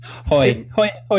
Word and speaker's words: Haughey: We should say our name is Haughey, and I'm like, it sounds a lot like the braying of a donkey to me. So I prefer the incorrect pronunciation in this case.